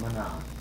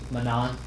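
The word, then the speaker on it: Manaan: Manan. M-A-N. M-A-N. I thought it was pronounced Mana. No, it's It's Manan. Manan. Yeah. Damn. It's stated in the game.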